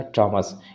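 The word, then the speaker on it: Thomas: इसे थॉमस नहीं पढ़ते हैं, थॉमस क्या आ जाएगा? आपका हिंदी वर्ड होता है। तो ये इंग्लिश क्या है? हिंदी वर्ड नहीं है, बल्कि क्या हो जाएगा? टॉमस। इसको हम लोग क्या correct pronunciation is दैट? टॉमस।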